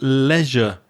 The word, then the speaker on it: leisure: activities anything connected to leisure and Recreation I spoke earlier about the pronunciation of the word pleasure where Leisure has the same sound in the middle Leisure any activity that relaxes